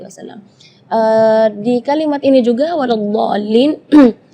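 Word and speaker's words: وَلَا الضَّالِّينَ: Di kalimat ini juga waladhdallin yang perlu diperhatikan adalah madnya juga. Mad di situ kita harus panjang membacanya 6 harakat karena di situ hukumnya mad lazim kalimi mutsaqqal, jadi membacanya waladhdallin 6 harakat. Terus setelah waladhdallin di situ ada huruf lam yang ada di atasnya ada tasydid. Itu seringkali ketinggalan waladhdallin.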